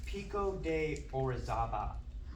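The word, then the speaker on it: Pico de Orizaba: Mexico it is called Pico de orezaba I think that's how you say it um it's the highest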